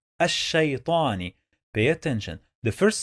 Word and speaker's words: الشيطان: When we add al to any word starts with sheen, we don't pronounce the lam.